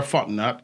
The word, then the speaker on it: Fontenot: Fontenot. 3 syllables, guys. Fontenot.